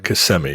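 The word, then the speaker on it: Kissimmee: like uh CMI uh CMI is is what it's is how it's pronounced uh is is is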